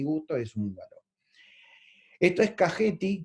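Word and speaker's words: Kakheti: Esto es Cajeti, que se pronuncia así como le estoy diciendo, no Caqueti, y ese lugar es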